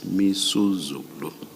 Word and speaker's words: Misuzulu: I mispronounced the king's name. It's Misuzulu.